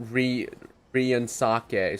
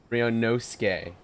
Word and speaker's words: Ryunosuke: Okay, so we said it wrong. Mr. Ryunosuke. Not Ryunosuke, Suke. Ryunosuke.